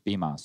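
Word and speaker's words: Bymas: BMAS. I'm pretty sure it's BMAS, yeah. Like, okay, it's like Christmas, but instead of Chris, it's just B. Yeah, I remember because Stryker was explaining it to BMAS.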